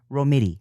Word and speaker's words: Romiti: Romiti. Yeah, Romiti. Yeah, I always tell people it just rhymes with titty.